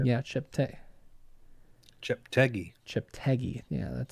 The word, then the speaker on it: Cheptegei: Yeah, did someone phonetically? Yeah, Cheptegei. Cheptegei.